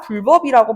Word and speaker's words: 불법: 법을 어긴 범법 행위에 대해서 우리가 불법이라고 이야기를 하는데 사실은 불법이 아니라 불법이라고 발음해야 되는 거였어.